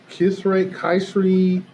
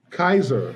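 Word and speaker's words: Kysre: Yeah, I mean, he was there with, I don't know how to pronounce her first name, Kayseri Gondrzak? Kaiser. Okay, like Kaiser. Okay, I did not know like the hospital.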